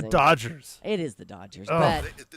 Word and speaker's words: Dodgers: It's the Dodgers. It is the Dodgers, but they're the Doyers. The Doyers. Why do you call them that? Pretty much every Hispanic in Southern California pronounces it Doyers.